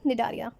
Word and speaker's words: Cnidaria: सियोलेंट्राटा को ही बच्चों हम निडारिया कहते हैं। यहाँ पे ध्यान रखिएगा सी आपका साइलेंट होता है इन निडारिया।